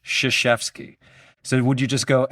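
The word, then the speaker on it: Krzyzewski: And Shashevski got to be an SH, right? In a phonetic spelling. Sh maybe SHF E S H. Yeah. S K I or S ke E E. Um, but how do you differentiate the sh? Because it's shashki.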